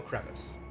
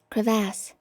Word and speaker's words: crevasse: Is it actually pronounced differently, or is it still crevice? Hang on. We're going to Google. Crevasse. Crevasse. As opposed to crevice, which is a different word.